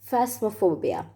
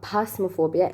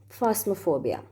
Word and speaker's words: phasmophobia: Phobia number 8 is phasmophobia. It's not phasmophobia. It's actually PH is pronounced as fa, F. It's phasmophobia.